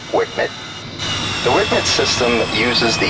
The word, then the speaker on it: WCMD: wind Ed munition dispenser or wcmd for short pronounced Wicket the Wicket system uses